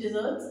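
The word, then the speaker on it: desert: की मात्रा की डिजर्ट I love to ईट डिजर्ट after having my meals मुझे मीठा खाना पसंद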